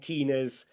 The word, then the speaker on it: Tina: Tilly rhymes with Ali and Tina rhymes with Emma.